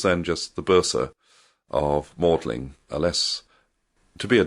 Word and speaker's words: Magdalen: They were both Bishop of Winchester, who founded Magdalen College whose tower you can still see, um, as you enter Oxford.